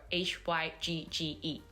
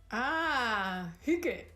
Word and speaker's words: hygge: How do we actually pronounce the word Hygge? Hygge.